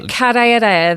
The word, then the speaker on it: karearea: I know the karearea, the falcon, New Zealand falcon.